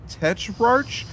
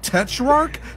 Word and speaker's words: Tetrarch: if I sent it to you I can't pronounce this name right so the band is called Tetrarch te t ra r CH go figure okay